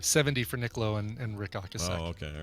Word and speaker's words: Ocasek: I think it's actually pronounced Ocasek.